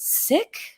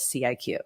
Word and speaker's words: CIQ: And how do you pronounce our name? I was actually listening to another podcast this morning and the guy was like, I'm not sure how to pronounce this. Is it sick? I'm not sure. CIQ? So yes, for all the world to know, we do refer to ourselves as CIQ.